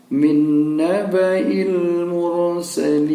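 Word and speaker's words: مِن نَّبَإِ الْمُرْسَلِينَ: Cara membacanya adalah kita tidak membaca alifnya karena ada tanda lingkaran kecil di atas. Ini alifnya dianggap tidak ada. Kemudian ini juga ianya yang tidak ada titik, tidak ada tanda barisnya, ini juga tidak dibaca. Berarti kita membacanya langsung min naba'il mursalin.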